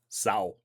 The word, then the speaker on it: Sau: And in case you're wondering about the pronunciation, it's literally the first half of Sauron. Sau.